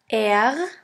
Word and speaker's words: R: For this letter, there's no equivalent in English. In order to pronounce this letter right, you have to gargle in the back of your throat until it starts to vibrate.